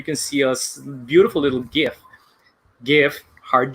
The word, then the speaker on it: GIF: And there you can see a beautiful little GIF, hard G, that explains how to get into Google Groups.